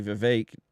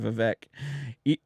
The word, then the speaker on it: Vivek: not meanly he just said that his name was actually Vivek and everybody's been pronouncing it Vivek this whole time like even